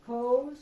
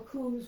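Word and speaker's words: Koos: scarf from co vanacker now co or kuz whichever way he didn't care you could say it either way but I think kous was the appropriate uh pronunciation.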